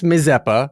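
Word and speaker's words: Mazeppa: yeah she's gonna be Miss mppa which rhymes with schpa that's how I know how to say it she's gonna be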